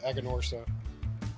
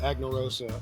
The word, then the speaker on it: Aganorsa: time we we we're talking about the aganorsa I called it annarosa on the when I was saying hey what we're smoking next is the a annarosa so from that point on I learned how to say their name that's okay as much